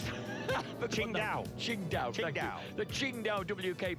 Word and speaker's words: Qingdao: Philip Atkinson, the Tang Cha, I've forgotten how to pronounce that. Qingdao.